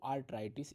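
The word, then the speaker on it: arteritis: में होता है आर्थराइटिस डेफिनेशन और थोड़ा प्रोनाउंस एशन डिफरेंस है जब नहीं बोला जा रहा है तो धरती को सोचो धरती इज अर्थ तो अर्थराइटिस बोल दिया आपने तो वो इंफ्लेमेशन ऑफ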